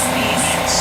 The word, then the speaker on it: Nice: Nice, yes, Nice. But it's spelled like nice, yes, yes. And Nice is in France.